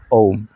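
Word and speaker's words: ओम्: तो अकार, उकार और मकार, इस तरह से ओम का उच्चारण होता है।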